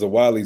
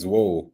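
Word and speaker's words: Zwolle: I used to pronounce Zawali Zwol. I thought it was Zwol for a long time. The only reason I know it's Zawali is because they known for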